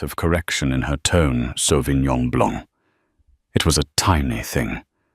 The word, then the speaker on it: Sauvignon Blanc: "The Sauvignon Blanc." She pronounced it with a hard, flat G and an anglicized blank.